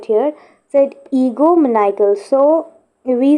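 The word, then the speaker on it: egomaniacal: Egoomaniacal is the pronunciation of ego right here. So ego maniacal.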